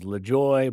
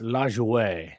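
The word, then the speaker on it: Lajoie: You might have heard it pronounced as Lejoy, but it's LJO or something to that effect.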